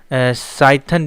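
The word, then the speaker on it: Cython: और पाइथन interpreter को हम लोग साइथन भी कहते हैं। देखिए यहाँ पे पाइथन है, सी यहाँ पे जो है साइलेंट है, तो साइथन भी कहते हैं, ठीक है।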